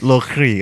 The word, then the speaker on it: Le Cri: Is that how you pronounce it? Le Cri. Le Cri.